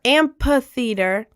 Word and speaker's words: amphitheater: The P is common in American English to pronounce the PH as a P.